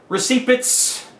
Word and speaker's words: receipt: like this that says receit I always like to say that receit because the word is it's got the P the silent P anyway receit December 2011